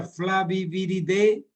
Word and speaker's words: Flaviviridae: Un arbovirus que pertenece al género de los flavivirus, a la familia Flaviviridae. Viridae se escribe, la terminación AE en latín se pronuncia como E.